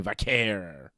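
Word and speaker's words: Vaquer: Crown Jewel Cody and Seth and Tiffany Stratton versus Stephanie Vakquay, who is the new women's world champion. Stephanie Vakair, you know, if you want to pronounce it that way. I like Nikki Bella's pronunciation. Vqu.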